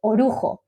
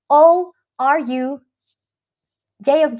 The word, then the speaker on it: orujo: having a shot of a traditional drink called orujo. That is spelled O-R-U, J of Juliet, O, orujo.